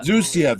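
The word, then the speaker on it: Xusia: the evil sorcerer uh Sapphire I can never pronounce the name no it's uh it's zucia that's it yeah yeah yeah yeah so he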